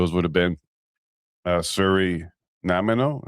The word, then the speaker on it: Nanaimo: I I know the the dessert. No. Is it the dessert? I think so. Yes, the same spelling as then was it Nanaimo bars.